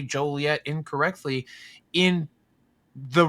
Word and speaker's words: Joliet: But that's like one of those funny things like you can't say Joliet wrong or you get you're going to get fined. What are you talking about, man? It's Jolliet. Jo. Joliet. Yeah.